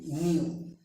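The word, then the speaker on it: knew: কে এর পরে মানে খে এর পরে যদি এন থাকে সেই ক্ষেত্রে খে উজ্জ থাকে বা নীরব থাকে অথবা সাইলেন্ট থাকে। খে এন ই ডাব্লিউ নিউ।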